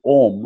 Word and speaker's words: Om: form in the syllable ohm which is referred to as ohm Cara which is supposed to be made of three sounds ah Oh N mmm and which is adequately